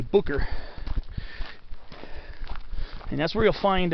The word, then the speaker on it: Boucher: this uh lookout called bucher hill b-o-u-c-h-e-r people a lot of times will pronounce the boucher but it's actually booker and that's where you'll